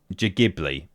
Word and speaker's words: Ghibli: It's pronounced Ghibli. I've always said it was Ghibli with a hard G.